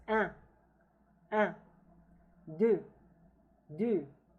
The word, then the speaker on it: deux: Deux. Deux. Now the X here is not pronounced.